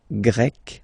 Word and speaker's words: grec: So you get the country, la Grèce, and then you get Grec, masculine form, Grec, feminine form. You write them differently, but then, if you listen carefully, Grec, grec, you pronounce them the same way.